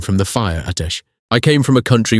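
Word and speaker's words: آتش: The word in Ottoman for fire is atesh. Two syllables, the second one falling.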